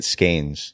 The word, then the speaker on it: Skenes: So, my family, we grew up saying it Skenes. Skenes. But in Scotland, they say Skene. Skene is the proper way to say it. Got it. So the silent S. Yeah, I guess so, yeah. Yeah, okay. Or maybe they say Skenes too.